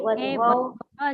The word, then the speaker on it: वध्वौ: हे वधू हे वध्वौ हे वध्वः संबोधन हे वधू वध्वौ हे वध्वः संबोधन। बराबर। जनकबेन बोलिए आप। वधुः वध्वो वध्वः प्रथमा वध्वौ बोलना है, वध्वौ। औ का उच्चारण चाहिए।